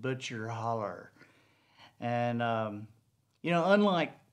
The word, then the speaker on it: Butcher Hollow: she she pronounced it butcher holler she didn't pronounce it butcher hollow um it spelled butcher hollow but she pronounced it butcher holler and um you know